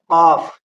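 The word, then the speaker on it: ق: बाद आता है काफ इन दोनों के दरमियान बड़ा फर्क है कफ ये मुंह भर कर बोला जाता है और पुर बोला जाता है इसके अंदर क्या दूसरा होता है काफ ये बारीक बोला जाता है कफ कफ आपको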